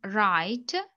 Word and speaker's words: write: І дивимося, що в нас не читається перша буква, так? Ми читаємо з другої. Бо якщо W та A на початку, то W не читається, а A читається.